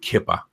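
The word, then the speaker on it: Keepa: Kipper. Okay, so that's how they pronounce it.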